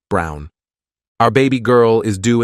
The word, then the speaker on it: Braun: of the historical figure Eva Braun pronounced Brown wife of probably one